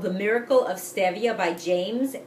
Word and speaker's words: stevia: Now, if you're not familiar with stevia, some people call it stevia, but it's actually pronounced stevia. People don't know. It actually was discovered by someone whose name I think was Esteve, like a Spanish name, so it's stevia.